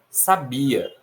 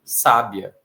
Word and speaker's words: sabia: No entanto, para quem não conhece tão bem a língua portuguesa, essa palavra também poderia ser sábia. E para algumas outras pessoas poderia ser sabiá. Por que não é sabiá? Por que não é sábia? Por que do jeito que está escrito aqui é sabia?